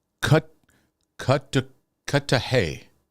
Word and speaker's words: Cudahy: 20 degrees um oh oh I got a pronunciation cut cut to cut to Hay sounds like we're talking like another language this